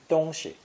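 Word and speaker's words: 东西: a village giving us the term dongshi notice that the second syllable is unstressed when it has this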